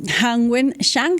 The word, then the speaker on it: Hanwen Zhang: Es bastante eh curioso este caso del que vamos a hablar entonces ya mismo, ahora sí, con la profesora eh Hangwen Shang. Estoy pronunciando bien su nombre, profesora.